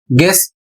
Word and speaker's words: guess: जैसे यहां पर लिखा है जी यू ई डबल एस और इसे पढ़ा जाएगा गेस्ट इसकी हिंदी अंदाजा लगाना।